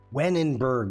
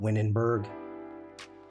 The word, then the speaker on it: Wennerberg: Wenenberg, not Winnenberg.